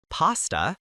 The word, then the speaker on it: pasta: Rice, pasta, bread, potatoes, eggs, cheese. Remember the pronunciation of pasta in British English. It is a short a sound.